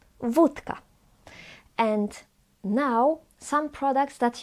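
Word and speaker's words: wódka: You now know already that this O with dash is pronounced as U. Vodka.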